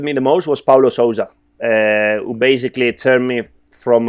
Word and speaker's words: Sousa: Is that how you pronounce it? Sousa, yeah.